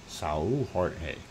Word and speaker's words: Jorge: on a single Georgia if you want to pronounce it in Portuguese Jorge if I said it right and that should be